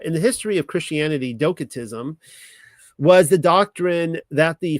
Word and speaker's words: docetism: All right, let's start talking about uh docatism and it could be dosatism but I'm using a hard C here so because I like my hard C's.